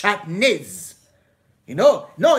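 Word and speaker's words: שעטנז: And there's always a superhero that says, hey, no, that's not the way you say it. It's shatnez. Not shatnez. It's shatnez.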